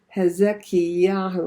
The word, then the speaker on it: Hezekiah: He names him Hezekiah. I gave that in Hebrew because Hezek means strong. Yahu means my God.